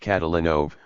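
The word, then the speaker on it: Kotolynov: In most parts of Russia, an unstressed O is pronounced as though it were a short A. So Kotalenov would be pronounced Catalino with stress on the third syllable.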